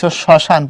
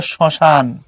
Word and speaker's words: শ্মশান: পদের আদ্য ব্যঞ্জন মানে ম যুক্ত হলে উচ্চারিত হয় না, তবে সামান্য নাসিক্য প্রভাব হয়। যেমন লেখ স্মরণ পর্ব স্মরণ, লেখ শ্মশান পর্ব শ্মশান।